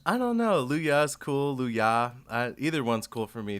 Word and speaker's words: Louyah: ask like siri to say luya it's like luaya oh really that's interesting but yeah so i always say i always say luyah not yeah like is that a different is